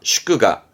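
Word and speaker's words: 祝賀: 요게 축 뒷글자가 하자라 축하, 슈크가, 슈크가. 이게 경자입니다. 경축, 케시크, 케시크. 요게 했던 거 의자라 축의, 축의에서 발음은 슈기, 슈기 합니다.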